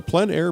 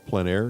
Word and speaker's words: plein air: For those of you who don't know, plein air is a French term which essentially means outside, open air, outdoors. The French pronounce it plein air. Others say plein air, but no matter how you say it, there's a huge